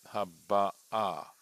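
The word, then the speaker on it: הבאה: So Rashi has a grammatical note because it's, notice, haba'ah. Right, the accent is on the ah, and he points out that this is not the perfect tense.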